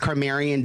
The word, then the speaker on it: Carmarian: First of all, the name is pronounced Carmarian D.